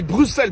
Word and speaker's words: Bruxelles: Non, par contre, on dit Bruxelles, pas Bruxelles. Mais pourtant, ça s'écrit avec un X.